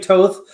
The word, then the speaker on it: Thoth: well he what he's he's just he's saying toth well i think most people know it as thoth the egyptian god of of of scribe